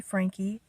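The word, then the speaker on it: Franke: and Ruby Frankie actually I've heard her name being pronounced as Frank or Frankie but it ends with an E so I'm just going to say Frankie and I've heard so many people using that that pronunciation of her last name so I'm just going to go by that well Ruby Frankie if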